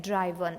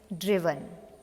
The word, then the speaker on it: driven: Mind the pronunciation because I have heard the pronunciation of this word from many students like driven. It's not driven, it's driven.